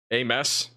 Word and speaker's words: Ames: It really is a mess out there, but you know, it's a messy convective area of storm activity.